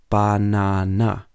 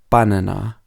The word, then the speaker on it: banana: we don't say appalled banana has three syllables banana but we don't say banana we say banana and not banana okay so hopefully that